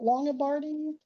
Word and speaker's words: Longobardi: Longobardi in person, and am I saying it right? Is it Longobardi?